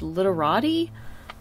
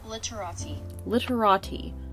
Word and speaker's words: Literati: okay so i've been told that it's actually pronounced literati literati so there we go that's how it's actually